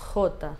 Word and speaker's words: jota: Esse é o som do J. Jota. Não esquece do O de paulista e o tá no final. Ronquinho, O, tá. Jota, ok? Ó. Jota. Jota. Essa é a pronúncia correta.